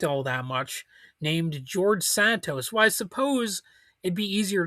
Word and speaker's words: Santos: But anyway, George Santos, he Santos, sorry, I pronounced it like the word Mentos, but uh he's a